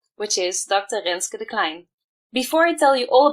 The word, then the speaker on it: Renske de Kleijn: country which means that this time I will pronounce her name correctly which is dr. lynskey decline before I tell you all about her let